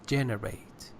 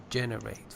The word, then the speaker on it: generate: on the second syllable words said generate its generate generate first syllable and yeah you said something else it